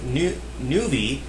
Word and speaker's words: Nuvie: Pronounced nuvie is an open source engine for Origin's games Ultima VI, Martian Dreams, and the Savage Empire.